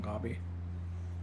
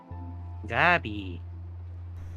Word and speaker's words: Gabby: We never agreed on Gobby. Also, in Spanish, you pronounce the A as an a. You don't pronounce it as an O.